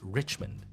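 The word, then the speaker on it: Richemont: by a company called Richmond Richmond okay Richmond okay but again it we are supposed to pronounce it French so this one is richmon yeah it's it's supposed to be like that but I you know I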